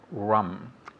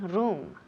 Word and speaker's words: rum: neglect okay neglect okay next we have Ron rum good repeat again rum excellent so the house be very careful the pronunciation here we never say room room no room room is habitation room and